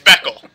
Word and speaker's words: Beckley: Hey, it's Beckel. The Y is silent.